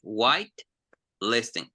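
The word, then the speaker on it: whitelisting: separate so we say white listing I know they're together here but we pronounce them separately okay again repeat after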